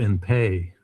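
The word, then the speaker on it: in pais: So this is, you know, I asked Anna about estoppel in pay. That's spelled PINPAIS, estoppel in pay.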